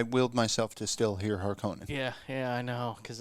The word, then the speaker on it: Harkonnen: at everybody and the the harkins harkenings it's hard for me to say it like that oh it's a harkonnen why um why'd you